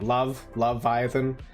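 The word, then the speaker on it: Loveiathan: Like, think like the word Leviathan, but it's spelled L-O-V-E, Iathan. Like Love-Viathan. Just a little play on words.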